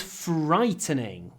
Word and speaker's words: frightening: The storm was frightening. Pronunciation, this fr. There's a lot of air, a lot of придыхание in fr. Make the f longer. Try to say frightening.